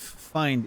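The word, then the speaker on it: Feind: Find is enemy in Germany, like fiend, but in German it's the I and the E are reversed.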